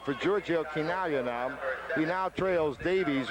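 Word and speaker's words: Chinaglia: crowd when the assist was announced to Georgia kagia I mean this is no tal to mispronounce an Italian's name there are a lot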